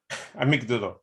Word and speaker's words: amygdala: So I'm mispronouncing it. It's gone, innit? Yeah. So what did you just say, bruv? Amygdala.